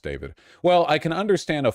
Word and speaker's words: D4VD: Pronounced David. Of course it's pronounced David.